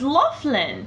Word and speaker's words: Loughlin: Is that how you say It's Loughlin. That's what I wrote. Someone else came up. Lolin.